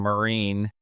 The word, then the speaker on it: Maureen: And I'm with my new friend, Meen.